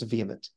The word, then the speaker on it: VHEMT: human extinction movement uh with the acronyms vhemt which they pronounce vehement uh run by a